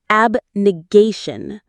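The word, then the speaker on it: abnegation: Ab ne. Gay. Shun. The stress is on the third syllable. Gay. Ab negation.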